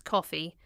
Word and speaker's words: Coffey: He explains his name is Coffey, like the drink, only not spelled the same.